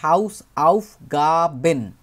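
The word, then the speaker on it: Hausaufgaben: homework বহুবচন হয়ে যায় হাউস আউফ গাবেন প্রত্যেকটা আলাদা আলাদা করে উচ্চারণ করবে হাউস একটা অংশ আউফ একটা অংশ এবং গাবেন এইটা আরেকটা অংশ হাউস আউফ গাবেন হাউস আউফ গাবে একটা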